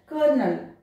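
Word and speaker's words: colonel: नहीं है तब भी इसको क्या प्रोनाउंस किया जाता है कर्नल, ओ प्रोनाउंस नहीं किया जाता दोनों जगह आर किया जाता है।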